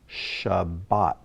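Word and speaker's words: שבת: you would be correct it's the word shabbat sha shabbat which is the sabbath the seventh day of the week so congratulations we've been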